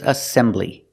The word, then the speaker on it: assembly: second syllable assemble and the second word is assembly assembly again three syllables assembly distress is on the second syllable